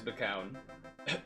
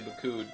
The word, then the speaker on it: Macoun: The Macoun apple pronounced McCowan? That can't be right. Oh, never mind. I guess it is McCown. I've never heard someone say it like that. I've always heard people say Macoun.